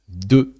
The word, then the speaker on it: de: So, when you have a little word like de that sounds uh when just after there is a vowel, a word that starts with a vowel, that de turns into d apostrophe.